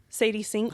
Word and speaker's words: Sadie Sink: Sadie Sink. How you spell it?